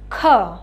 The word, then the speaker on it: খ: খটা কিন্তু একটু ধাক্কা দিয়ে বলতে হয়, ঠিক আছে? এটার উচ্চারণের সাথে হ উচ্চারণ হবে, বুঝতে পেরেছ?